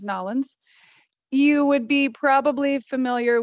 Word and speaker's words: New Orleans: And if you have ever been down to New Orleans, or actually the proper way to say it, if you're from there, is Nolens, you would be probably familiar with a beignet, which is traditionally really a fried dough.